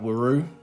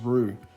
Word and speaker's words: Whroo: It's easy to mispronounce it uh woo, but it's actually pronounced rue as in kangaroo.